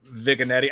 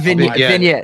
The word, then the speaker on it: vignette: whether it's in another vigani? I I don't know how to say the word. I've been I've been yelled at vignette.